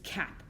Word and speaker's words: cap: closed syllable type and in closed syllables the vowels have the short sound so there's no guessing game here ah a it's cap I know it's that a sound because it's a closed syllable now here is the